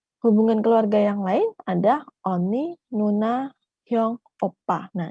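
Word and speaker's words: 언니: buku Misalnya romanisasi nya romanisasi nya adalah eonni seperti itu nanti Bacanya adalah Oni Oni ini dipakai dari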